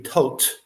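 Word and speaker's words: Thoth: Like hot with a t at the front and a t at the end.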